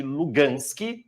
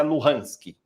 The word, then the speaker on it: Luhansk: Uma é chamada de Donetsk, a outra é chamada de Lugansk, e que normalmente a pronúncia é Luhansk.